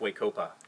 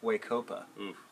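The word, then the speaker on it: We-Ko-Pa: and we keep out and actually pronounced wake oppa wake oppa there's 36 out there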